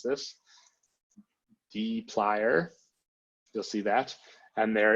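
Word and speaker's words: dplyr: two main packages one of them is called deep liar that's how you pronounce this deep liar you'll see that and there is another one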